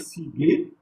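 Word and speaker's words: ciguë: Par exemple, ici, vous avez sig. Je ne vais pas lire sig, mais c'est sig.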